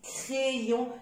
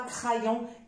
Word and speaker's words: crayon: y le y c'est une lettre qui se prononce soit i soit Dieu comme dans silo comme dans crayon et j'insiste crayon et non pas crayon crayon et rayon voilà